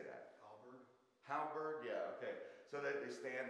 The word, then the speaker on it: halberd: Halberd.